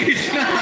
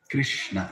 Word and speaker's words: Krishna: Spell it completely. Don't say Ram. Rama. Then it's complete mantra. Krishna, not Krish.